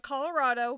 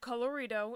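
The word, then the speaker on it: Colorido: was adopted to film by Studio Colorado not Colorado coloredo it's spelled with an i i double check that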